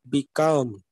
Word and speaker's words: become: We simply say become, but the actual pronunciation will be like become. Okay, become. So here second syllable will be accented like below, below.